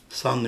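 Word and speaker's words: Cent: ekranda gördüğünüz sunan numero değişik yazılıyor c e n t San okunuşu aynı sano C NT cevizli Edirne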